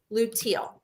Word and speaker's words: luteal: last phase is called luteal which is how let me tell you how it spell it l-u-t-e-a-l so l-u and then the color teal luteal represent that's that part